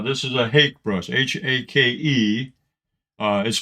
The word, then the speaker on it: hake: no confusion uh this is a hake brush h-a-k-e uh is pronounced hake uh i've heard seen a lot of things that people call it hockey uh i guess it rhymes with sake from